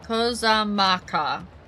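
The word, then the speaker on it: Kozama'uka: Long ago, when fighting still ravaged between the clans, the inhabitants of Kozamaku... I think that... Hold on. I'm gonna double check the pronunciation on that one. Kozamaka.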